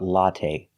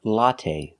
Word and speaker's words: latte: now let's talk about latte we say latte we don't say lat the last syllable is the long a it's not stressed but we use the long a like say and pay latte make a long sound